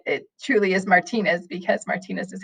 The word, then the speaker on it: Martinez: old and I realized that Martinez was being pronounced wrong? So anyway, I find out that it truly is Martinez because Martinez is how it should be said because it's an ethnic name.